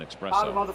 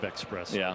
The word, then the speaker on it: espresso: love to have an espresso fourth there is no X in that word said it's espresso and this is a